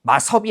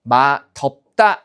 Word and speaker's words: 맛없다: 마섭이 아니라 어떻게 마덮다 이렇게 되는 거죠.